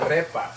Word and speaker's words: arepas: We've got these how do you pronounce it again? Arepas.